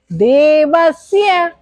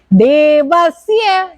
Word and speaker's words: देवस्य: देवस बोलो, हाँ ये है, देवस्य, देवस्य। Very good.